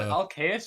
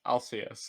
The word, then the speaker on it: Alcaeus: I'm sorry, That's is it Alcaeus or is it Alcaeus? Because Alcaeus. I might be. It's a Alcaeus. Latin name.